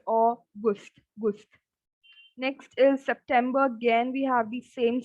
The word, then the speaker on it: September: Again, we have ER in the end. So it's not bar. September.